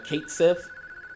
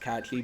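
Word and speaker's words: Cait Sith: for the longest I was calling him K Kate Sith you know when I was younger but it's actually pronounced catchy but I I I actually hate him and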